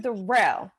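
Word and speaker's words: Durrell: i was like oh so pronounce your first name first durell okay so your first name is darrell that's how it's pronounced but you already know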